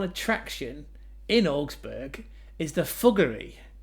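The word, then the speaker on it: Fuggerei: And according to Trip Advisor, the number one attraction in Augsburg is the Fuggery. Not thuggery, fuggery with an F.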